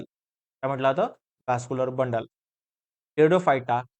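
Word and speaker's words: Pteridophyta: बघूया, टेरिडोफायटा, इथे P silent आहे बरं का. भरपूर लोकांची स्पेलिंग लिहिण्यामध्ये फेर होतं. पेटिडिडोफायटा असं वाचतात. इट इज नॉट अ पेटिडिडोफायटा, इट इज द टेरिडोफायटा. P silent आहे, पी प्रोनाउन्सिएशन नाही.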